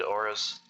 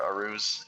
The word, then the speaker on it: auras: Just reduce the amount of space that your opponent has to summon minions, move around, avoid auras, or arus, as Rage says. For some reason, he pronounces that way.